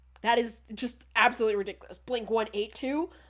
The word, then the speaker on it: Blink-182: Apparently, in the United States, it's Blink-182, aka the correct way. In the UK, apparently it's Blink-182. Fucking terrorists. Absolutely wrong. How dare they? That is just absolutely ridiculous. Blink-182?